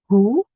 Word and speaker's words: hoe: So the OA or the OE in English is pronounced as the U, like the double O in Australian English. U. Hoe. This is ow, like ouch.